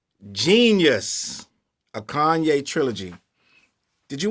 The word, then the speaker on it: Jeen-Yuhs: Let me get the correct pronunciation. It was called Jeen-Yuhs, a Kanye Trilogy.